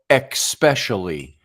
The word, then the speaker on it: especially: least it doesn't spell especially that's one of my things when I listen to people talk and if they ever say especially which has no X in it it's spelled he asked